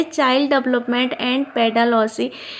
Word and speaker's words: pedagogy: है child development and पेडागॉजी। पेडागॉजी जिसको कुछ लोग पेडागॉगी भी बोलते हैं, राइट, क्योंकि इसमें जी साइलेंट है।